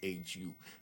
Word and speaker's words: SHU: Shu is the special housing unit. That's why we call it shoe. It's pronounced shu.